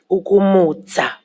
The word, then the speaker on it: ukumutsa: Ukumutsa or ukumutsa. Some areas will use the TSA in the end. But if I'm hearing the JP correctly, he's using the pronunciation of the DZA, ukumutsa.